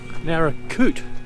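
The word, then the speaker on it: Naracoorte: so that is the Nara narra cot I think is the way he pronounced it I said narra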